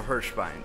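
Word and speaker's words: Hirshbein: How do you spell that? It's H-I-R-S-H-B-E-I-N, so Hirschbein.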